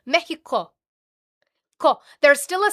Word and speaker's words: Mexico: Yes, the X gets pronounced a lot of the time like an H. You say Texas is Tejas. But not Mexico.